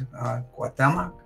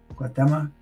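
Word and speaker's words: Cuauhtémoc: I wish I could pronounce his name well. It's Guatemoc. Guatemoc.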